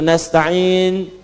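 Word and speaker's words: نستعين: Yang kedua itu nastain dibacanya menggunakan fathah ujungnya sukun. Jika ada yang baca menggunakan kasrah itu dari bani Tamim, bani Asad di antaranya.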